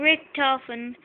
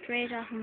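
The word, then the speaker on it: Richtofen: And just to tell you, Rick Toffin, mate, it's pronounced Ray Toffin, but I just call him Rick Toffin sometimes.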